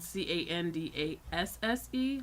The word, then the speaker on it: Candasse: And then me, Candace, if you ever want to listen to any of my quirky songs, my name is spelled Candasse, like canned ass with an E at the end.